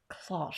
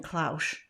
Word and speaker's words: cloche: close close close close first i was saying claush sounds like yeah i know somebody out there is going to phonetically tell us how to say this word but we're playing with cloches close close exclusive classic